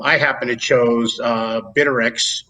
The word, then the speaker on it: Bittrex: happen to chose uh bitterx or bittrex i guess is the right pronunciation of that um from what i